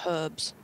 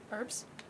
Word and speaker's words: herbs: I'm just yelling about herbs. Excellent. Herbs? Herbs. Herbs? Herbs. Herbs? We pronounce our H's.